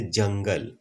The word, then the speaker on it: जंगल: जैसे जंगल, यहाँ पर अंग का उच्चारण किया है।